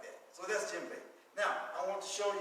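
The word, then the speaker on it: djembe: name is what bank so this drama is called what jim bay okay sometimes you'll see it spelled d-j-i-m-b-e sometimes it's spelled d-j-e-m-b e sometimes it's spelled like that so that's gem bait now i want to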